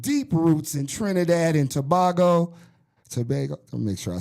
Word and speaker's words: Tobago: Raised in Brooklyn, New York, with deep roots in Trinidad and Tobago.